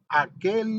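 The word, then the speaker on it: Hakhel: Pareciera ser que dijera aquel lugar, pero es aquel.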